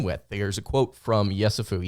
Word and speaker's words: Yessoufou: I think that's Tunde Yessoufou is how you pronounce his last name.